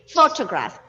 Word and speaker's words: photograph: c okay so here the syllable stress for the first word is on the first syllable photograph okay photograph and when it comes